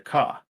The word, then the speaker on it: Kajh: And this region was taken over by the Ka, uh, which that's spelled Kajh. Um, for those curious, but Ka also works.